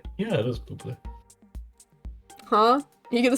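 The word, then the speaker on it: Bublé: How do you pronounce Michael Bubé's last name? Bubble. Yeah, it is Bubé.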